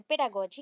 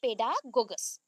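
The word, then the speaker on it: pedagogy: है, that is called पेडागोगस। पेडागोगस, ठीक है, पेडागोगस। अभी देखो आप पेडागोगी का स्पेलिंग क्या लिखे थे, पेडागोगी, that is actually पेडागोजी होता है, हम लोग गॉगी बोल रहे पेडागोगी।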